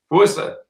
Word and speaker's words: Worcester: Worcester rhymes with rooster.